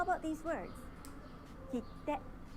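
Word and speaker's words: きって: Kitte, きて、 kitte, き kitte. て、 Did you notice that there is a pause in the middle? き The pause て。 needs to take one clap.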